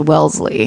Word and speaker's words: Wellesley: But there's a college called Wellesley that is pronounced Wellesley. It's Welles. Wellesley. Ley.